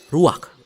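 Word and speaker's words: רוח: Kata dalam bahasa Ibraninya adalah ruach. Ruach? Orang berdialog ya. Ya, benar. Tenggorokan kita harus benar-benar bersih di akhir pengucapan.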